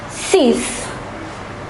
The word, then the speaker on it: six: 6, cease, cease.